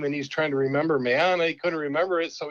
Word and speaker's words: Meana: My actual name is Meana, which doesn't even look like it's spelled, but that's how it's pronounced.